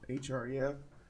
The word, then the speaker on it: href: How do you say this? Oh, it just spells it out. HREF, href.